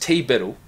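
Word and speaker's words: TBDBITL: if it weren't for TBD be ITL pronounced T Biddle the best n the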